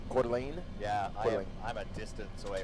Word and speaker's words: Coeur d'Alene: the lean last week is that how you pronounce that quarterly court elaine coeur d'alene yeah i'm a distance away from quarter lane